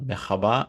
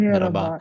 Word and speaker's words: merhaba: And I heard that Turkish more like to say merhaba, not mehaba, but merhaba.